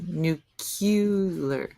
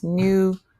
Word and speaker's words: nuclear: Nuclear not pronounced as nuclear. Nuclear. What drives me bonkers? Nuclear pronounced as nucular.